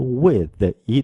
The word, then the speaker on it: with: with 발음 주의해 주세요 맨 끝에 있는 th 발음이 윗니와 아리니 사이에 혀를 드시고 스 발음 해 주시는데 약하게 스 발음 해 주시면 되는 거예요 with with with 그렇습니다